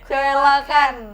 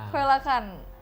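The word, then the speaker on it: coelacanth: Susah kan Apa bacanya? ini? Koelakan. Iya. Koelakan.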